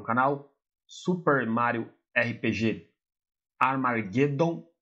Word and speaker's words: Armageddon: Vamos dar início a mais um detonado para o canal Super Mario RPG Armageddon. A pronúncia correta seria essa, mas eu gosto de chamá-lo de Amargedon.